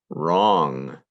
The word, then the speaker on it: wrong: hear at the beginning wrong if something's not correct it is wrong that has a silent w before the r as well now a couple of